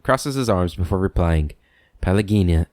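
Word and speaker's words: Pallegina: his arms before replying pelagina pallagina i've been saying your name wrong palagina if there is if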